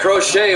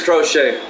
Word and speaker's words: Crochet: I think it is Crochet. Hernandez takes a big swing, strike 2. Count goes to 1-2. Because it's spelled just like Crochet.